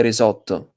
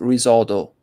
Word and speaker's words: risotto: For example, we say risotto. We say risotto with double T. So double T is risotto. It's not risotto.